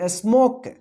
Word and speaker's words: smoke: यदि ओ रहेगा और लास्ट में ई रहेगा तो ओ का ओ उच्चारण कीजिएगा, ई का उच्चारण नहीं होगा।